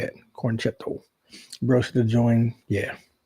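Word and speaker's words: Con-Chair-To: That's how you say it, cornchetto.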